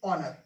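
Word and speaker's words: honour: बाद में ओ क्लियर हा के बाद में ओ आएगा तो हा हमारा क्या है साइलेंट हो जाएगा ठीक है अब इसको पढ़ेंगे गोष्ट इसको पढ़ेंगे ओनर ठीक मिंस होता है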